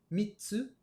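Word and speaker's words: 三つ: nous donne hitotsu, futatsu, mitsu, yotsu, itsutsu, mutsu, nanatsu, kyatsu, kokonotsu. Alors vous voyez, pour 3, 4, 6 et 8, on a une petite pause qui se rajoute dans la prononciation.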